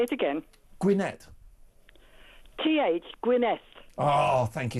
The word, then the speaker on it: Gwynedd: Have I pronounced your town correctly? Say it again. Gwynedd.